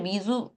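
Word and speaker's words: Mizou: 요게 이제 발음이 어 얘가 프랑스에서 왔나? 뭐 그런 소문이 있어서 사실은 제가 그냥 미조미조 얘기는 하지만 사실 미주 약간 이런 식으로 발음을 한다고 합니다.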